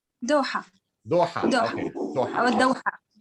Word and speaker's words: دوحة: How do you say, what's the proper pronunciation of Doha in Arabic? دوحة.